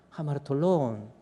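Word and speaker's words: ἁμαρτωλῶν: 알파에다가 이게 스트레스가 감기식이 있고 약기식이 있어. 이것을 거꾸로 스트레스를 이렇게 주잖아요. 액센트를 이렇게 주면 이것을 발음이 하 발음 나요. 그래서 읽을 때 하마르톨론이라고 있습니다. 한번 읽어볼까요? 하마르톨론.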